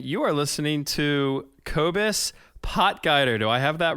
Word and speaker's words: Potgieter: Oh man, last name is Potgieter.